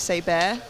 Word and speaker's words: Seber: I've been told in the comments it's Say Bear, not Saber.